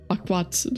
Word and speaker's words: Aquat: Aquat, like awkward.